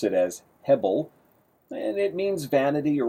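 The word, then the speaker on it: הֶבֶל: We would pronounce it as hebel, and it means vanity or worthless, but it also has the idea of vapor or breath or smoke.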